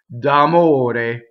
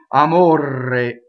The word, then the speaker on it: d'amore: So here we have a flipped R, because it's surrounded by vowels. The O and the E are closed. D'amore. Okay? O-A. Here's our purity test. O-A. D'amore. Now, common mistakes in this word I hear. Well, first of all, people roll the R, right? Amore. Wrong, right? Amore. Here's another mistake. I made a double M.